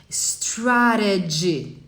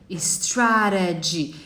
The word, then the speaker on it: strategy: Esse J tá no final. Strategy. Strategy. E aqui a gente tem o I no final. Então a gente fala I. O large, percebe? A gente não tem o I. Então é large. Large. O strategy tem o I no final. Então você fala o I, tá? Lembrando que strategy para americanos e strategy para britânicos. Tudo bem?